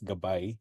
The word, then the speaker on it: Gabay: already uh gab AI it's pronounced as gabay which is also the Filipino word for guide um it's an AI